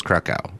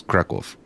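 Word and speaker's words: Kraków: place kov yeah oh is the place you referred to as krackow is kwolf oh it's pronounced with a different sound on the end of word oh I got you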